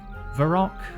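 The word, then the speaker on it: Varrock: Maybe it's a dialect thing and both are valid. Varac. Varac. I've always said varac.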